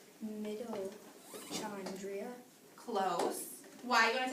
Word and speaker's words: mitochondria: I think it's pronounced mitochondria. Close. Why? You want to take a guess? Microchondria. It's actually pronounced mitochondria.